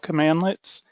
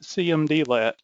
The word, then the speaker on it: cmdlet: Powershell commands are called commandlets and it's pronounced commandlet not cmdlet so commandlets are in